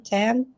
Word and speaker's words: Tan: Am I saying it right, Tan Tan?